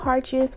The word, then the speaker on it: heartches: to pronounce it, but it's called heartches, which is like heart swatches.